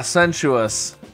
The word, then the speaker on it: sensuous: us at the end sensuous ah it was the S being pronounced differently that was throwing me off ah sensuous all right well that